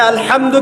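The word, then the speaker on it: الحمد: আচ্ছা, এখানে আলহামদু কেমন করে উচ্চারণ করেছেন? গলার কথা থেকে, মাঝখান থেকে না?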